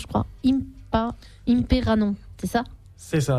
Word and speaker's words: Imperanon: que Ch of Botom nozer ou ça se prononce je crois imperanon c'est ça c'est ça imperanon en fait qui est Pact et qu la